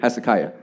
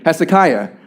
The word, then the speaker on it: Hezekiah: Kia is that right that's a kiyah thank you Hezekiah see pronunciation okay Hezekiah so Hezekiah was a